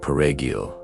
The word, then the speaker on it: perejil: soldiers used the word perejil to identify Haitians. In Spanish, the word requires a rolled R sound, which is difficult for Haitian Creole speakers to pronounce.